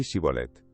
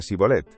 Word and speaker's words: Shibolet: Entonces le decían, "Ahora pues, di Shibolet." Y él decía Sibolet porque no podía pronunciarlo correctamente. Entonces le echaban mano y le degollaban junto a los vados del Jordán.